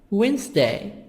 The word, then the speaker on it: Wednesday: Monday, Tuesday, Wednesday, Wednesday, D silent.